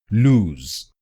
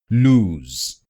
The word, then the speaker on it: lose: The second word is loose and it's pronounced loose, loose, loose. This word is pronounced with a Z sound at the end.